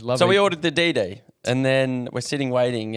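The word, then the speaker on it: DiDi: we we found that but we found the Diddy the app is that you pronounce it DD the app uh was about 50 cheaper than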